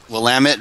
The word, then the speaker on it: Willamette: oh we're uh let's call will admit that willamette valley it's pronounced Willamette Valley but that's think that's Washington